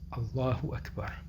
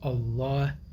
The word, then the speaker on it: Allah: not to stand so in the word Allah the lamb or the the L Sound is uh elongated and it is important